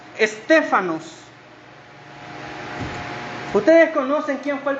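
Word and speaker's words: στέφανος: Corona viene derivada de una palabra griega que se dice o que o que se pronuncia stefanos ustedes conocen Quién fue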